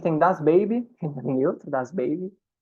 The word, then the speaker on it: Baby: Vocês vão perceber que eles têm muito estrangeirismo na pronúncia até, né? Muita palavra em inglês que eles incorporaram mesmo e pronunciam em inglês. Pronúncia do inglês mesmo.